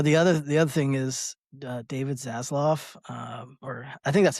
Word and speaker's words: Zaslav: Yeah, the other thing is David Zaslav, or I think that's how you pronounce his last name.